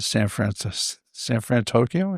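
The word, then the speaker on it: San Fransokyo: But in terms of, my favorite area of the park, it was a pretty close toss up between that and San Fran Tokyo.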